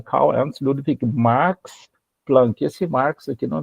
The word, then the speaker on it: Marx: Só que a pronúncia de Marx, ela é muito parecida com o nome Max, com M-A-X.